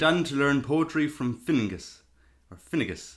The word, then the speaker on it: Finnegas: And he went on to learn poetry from Finngus. Or Finnegas. How would you pronounce that, James? Finnegas, I think. Finnegas, yeah.